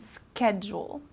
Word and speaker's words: schedule: if I'm available so this s kind of turns into like a k sound schedule okay February this is